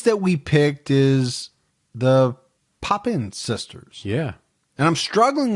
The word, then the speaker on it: Papin: we picked is the popin sisters yeah and I'm struggling with saying their name we've heard it a few ways heard it three or four different ways what we've settled on is pop in yes that's the way